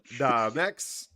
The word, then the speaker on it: Damex: What's up, Damex? Thanks for coming. I'd say Damex, yeah. Maybe say it a bit quicker, not so slow, but yeah. Damex. I like to drop those syllables.